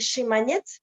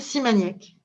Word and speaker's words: Simaniec: En Bélarus, on dit Chimanets. Est-ce que c'est bien? Je prononce bien votre nom? Oui, absolument. En biélorusien, c'est Chimanets. En français, c'est Simaniec. Voilà.